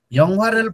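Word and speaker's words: 영화: एक्लैले उच्चारण गर्नुहोस् त यङ्वारेल फोर यङ्वा ग्वाने खासयो ल भन्नुहोस् त तपाईँको उच्चारण यो हेर्नुहोस् त फिल्मको उच्चारण यङ्वा यङ्वा गर्नुहोस् त ओके यङ्वा है त फेरि गरौँ त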